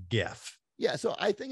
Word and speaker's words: GIF: Like is it GIF or GIF? What's the pronunciation? All right. Like I got so much heat for this. The creator of it says it's GIF.